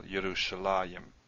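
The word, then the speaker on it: ירושלים: There's a few cases we do see a yud here, but it's pronounced still Yerushalayim.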